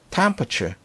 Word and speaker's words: temperature: 우리가 보통 temperature 이렇게 발음을 하는데요. 많은 네이티브들은 temperature 이렇게 발음하기보다는 temperature 요거 A를 발음 잘 안 하는 경우가 많이 있으니까 참고하시기 바랍니다.